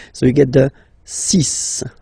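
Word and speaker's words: six: And be careful here, because even if it's ending with this X, well, you'll have to pronounce it like S. Okay? So you get the 6 pronunciation.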